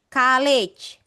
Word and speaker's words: college: Kalau yang ini, Bu, college. College. College. College. College. Iya. Ini E-nya jadi I.